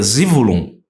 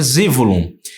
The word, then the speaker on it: Zebulom: o nome de zebulon na tradução Hebraica a pronúncia dele é zulum zulum oh tô ficando chic hein então a pronúncia dele é zivolo e agora Gênesis 23